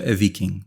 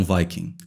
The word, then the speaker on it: Viking: And in case you're wondering: It's pronounced vee-king, not vie-king.